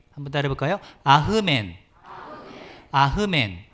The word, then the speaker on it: 아멘: 아멘의 히브리식 발음은 아흐멘이에요. 한번 따라해 볼까요? 아흐멘.